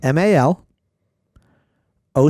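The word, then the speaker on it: malocchio: me how you would pronounce it okay okay Ma l o c h i o spell it again m a l o c h IO Malik really Malo malio yeah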